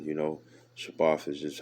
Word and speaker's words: Shabbat: You know, Shabbat is just how you say it in Hebrew, the Shadabar and the Tha.